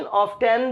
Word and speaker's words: often: अक्सर होता है ऑफन, लेकिन ऑफन की प्रोनाउंसिएशन ऑफन तो है ही जो सब जानते हैं, इसकी ऑफन की प्रोनाउंसिएशन ऑफ्टन भी हो सकती है, ऑफ्टन, राइट।